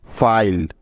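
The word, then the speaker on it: file: যেমন দেখো, এফ আই এল ই ফাইল। লক্ষ্য করলে দেখতে পাবে যে এই শব্দটিতে ই ভাওয়েলটা শব্দের একেবারে শেষে আছে এবং তার কোনো উচ্চারণও হচ্ছে না, এই জন্য তার আগের ভাওয়েলটির লং সাউন্ড হবে, অর্থাৎ আই ভাওয়েলটির লং সাউন্ড হবে এখানে।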